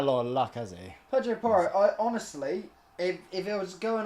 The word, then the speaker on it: Pedro Porro: Pedro Paro. Pedro Porro. That's the first time you said it correctly.